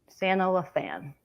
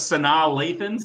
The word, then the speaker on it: Sanaa Lathan: Santa LaFan. Never heard it pronounced that way, but that is correct. Yeah. For 3 big points. I always thought it was Sanaa Lathan, but Sanaa Lathan.